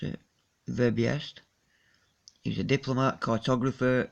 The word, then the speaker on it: Verbiest: Did our friend Verbestie, how do you pronounce it? Verbiest.